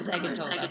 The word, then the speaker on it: Zagitova: I always call it Zagitova, but I don't think that you. So the emphasis. I think that Zagitova, like the emphasis on the GI.